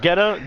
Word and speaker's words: Guetta: David It's Guetta. just Guetta.